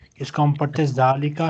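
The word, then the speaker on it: ذٰلِكَ: Example हाजा बैतुन व जालिका मस्जिदन. This is a house and that is a mosque. Note जालिका is pronounced जालिका बट इट is written without the अलिफ.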